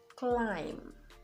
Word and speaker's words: climb: Now, the B is silent when it comes after the letter M. So you have comb, climb, thumb, dumb, even in plumber.